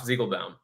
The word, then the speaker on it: Ziegelbaum: It's Ziegelbaum.